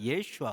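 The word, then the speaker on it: Yeshua: 그랬 조금씩 발음입니다 았죠 그러니까 예수님의 이름이요 예수가 아니고 예슈아 예슈아 그러니까 예수님의 엄마나 예수님의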